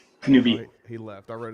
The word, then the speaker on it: Kenobi: Today, I am joined by the Dystopunks, Obi-Wan Kenobi, or is it Kenoble? Kenobi. Oh, he left. I read his name wrong.